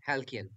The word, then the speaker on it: halcyon: ফার্স্টের উচ্চারণটা কি হবে? হ্যালকিয়ান ডেজ। ওকে, হ্যালকিয়ান।